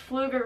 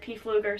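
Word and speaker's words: Pflueger: this is my favorite now I know I pronounced P fluger wrong it's just fluger reels but my entire life I've just said PE fluger so that's just what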